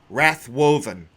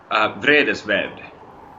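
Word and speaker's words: Vredesvävd: And the name of the album translates into Vredesvavd. How do you actually pronounce the name of the album, though? Vredesvavd.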